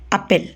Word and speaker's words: appelle: That means the endings o, os, and ont, these endings are not pronounced, and it is just the appel part that gets pronounced. So all these verbs have the same exact pronunciation, appel. We don't need to pronunciate the letters that marked in red.